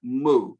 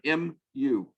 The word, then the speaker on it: mu: It is the M sound in Greek, but we call this letter mu, and we spell it M-U, mu.